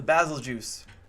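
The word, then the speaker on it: Bazelgeuse: And yes, I pronounce it basil juice because let me make sure. Basil juice, yeah, so it's BAZLGEUSE. It's basil juice, right? Like if I've heard like basil guys, it's what? No, it's just like Beetlejuice, but with basil.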